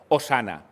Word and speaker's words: Hosana: Transliteración quiere decir que es tal y como se pronuncia en hebreo. ¿Cómo se pronuncia en hebreo? Hosana.